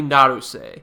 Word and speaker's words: Naruse: It's got to be Naruse. So I'm now correcting my pronunciation.